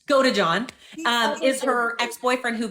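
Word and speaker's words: Godejohn: got John G sorry I always say it wrong I say got to John it's go to John um is her ex-boyfriend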